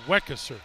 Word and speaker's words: Weckesser: now with two points I've been mispronouncing his last name but it's weckesser correct you're gonna have to